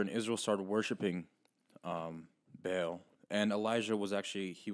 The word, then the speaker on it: Baal: the god of bail so that's how you say it right yeah okay good some see some people say ball some people say yeah bail out whatever you know